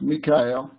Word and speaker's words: Mikael: So it's actually Mikael. I'm so sorry. It's formerly Michael, but that's how I write it, the way that it's supposed to be pronounced, Mikael.